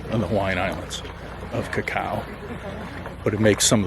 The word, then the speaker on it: cacao: name comes from uh the word is pronounced cacao which we were doing incorrectly before and that's what chocolate's